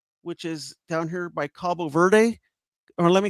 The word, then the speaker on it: Cabo Verde: It uh flew out of Esparos, which is down here by Cabo Verde or let me say it right, Cabo Verde, which was in the World Cup.